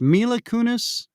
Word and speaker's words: Mila Kunis: How do you say this? Mila Kunis, right? Is that how you say her name? That's how you say it.